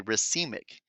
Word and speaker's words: racemic: of both enantiomers this is known as a racemic that's how you pronounce that word racemic mixture however if a compound that contains a